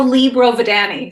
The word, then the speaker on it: Lea Brovedani: You're pretty close. I go Lea Brovedani. So, and you know what? If you say Brovedani and you use your hand, it's easier to pronounce.